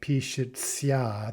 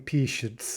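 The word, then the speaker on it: пишется: notice that patients uh we're not pronouncing that like p shia the way it's written we're saying peace uh and again we'll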